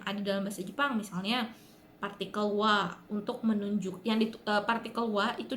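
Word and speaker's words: は: beberapa partikel yang ada bahasa Jepang misalnya partikel Wah untuk menunjukkan ditepati kewah itu ditusuk pakai huruf Arab tapi dibacanya wanna partikel ini fungsinya adalah untuk menunjukkan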